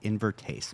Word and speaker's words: Invertase: So, Invertase, where did the And first of all, am I pronouncing it correctly?